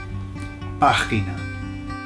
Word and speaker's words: página: Página. Página. Página. Notice where the accent is, it's on the A, okay? So it's página. All right, so how you